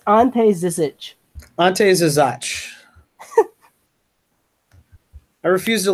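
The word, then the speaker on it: Ante Žižić: I'm going to talk about Ante Zizic for the Cleveland Cavaliers.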